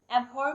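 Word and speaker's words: abhor: एबहॉर में जो आर है वो साइलेंट है।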